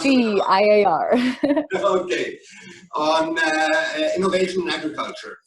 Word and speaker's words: CGIAR: And the third hat you're wearing is that you're working with CIGAR. Is it pronounced that way? Or is it, you'll tell us. CGIAR.